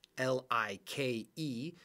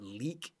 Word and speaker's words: like: was like Li ke if you look at the silent e it affects the I lie I like so we know that it's not leak which non-league a it's not lick okay because of that e at the end lie like now is this 100%